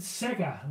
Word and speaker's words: Sega: You pronounce it Sega, like the gaming company.